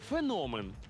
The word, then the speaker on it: феномен: усі разом навчаємося тому пропоную запам'ятати у слові феномен наголос на звук о феномен феномен феномен феномен